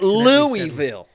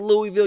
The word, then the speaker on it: Louisville: I get it. It ain't Louisville. Okay? If you're around the area, and I'm from around the area, I grew up hour and a half from Louisville. Okay? That's how you say it. It ain't Louisville. It ain't Louisville. You say Louisville. And anybody around the area would tell you, Louisville. It's just Louisville.